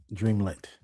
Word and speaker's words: Dreamlit: So Dreamlit. It's like it's spelled. Dreamlit.